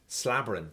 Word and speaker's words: slabbering: Slabbering. Slobbering. Slobbering. No, slabber. Slabber. With an A. No O, then A.